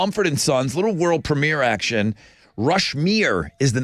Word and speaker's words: Rushmere: Not Rushmore. I know. When you were saying it this morning, I thought, are you reading that right? Or are you just pronouncing it weird? That's the name of the song, Rushmere.